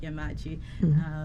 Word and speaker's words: Yemaachi: So Yemaachi Biotech, simply put, it's not Japanese, so I think Dr. Totimeh pronounced it correctly, where it's more like Yemaachi. It's a combination of a few Ghanaian languages.